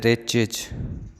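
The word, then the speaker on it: wretch: हैं turn off द रिच रिच इसका अर्थ होता है दुष्ट आदमी इस्पेलिंग डब्लू से शुरू हुई है और दूसरा अक्सर है आस तो यह डब्लू साइलेंट रहता है वह चीज अरे दुष्ट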